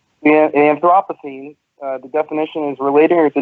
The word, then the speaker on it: Anthropocene: just making sure I say it right yeah Anthropocene the definition is related to noting the current